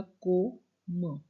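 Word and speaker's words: comme: है व है लाइक तो अब इसको कोम बोलना है अब सीओ आ गया को म अब ई वैसे भी आपने पढ़ा हु कि ई अगर लास्ट में है उसकी साउंड नहीं होगी तो इटस कोम ठीक है तो ये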